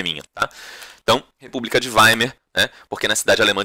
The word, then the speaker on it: Weimar: Por favor, não diga Weimar. Weimar. Tá? A pronúncia seria mais ou menos isso. Tá? Weimar. Tá? E eu sei que aqui tem E e você fala A, aqui tem A e você fala E.